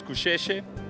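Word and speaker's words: Gusheshe: So the correct pronunciation is Kusheshe.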